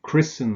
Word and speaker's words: christen: don't pronounce it similarly with words like christen and listen where you don't pronounce the T there's no T here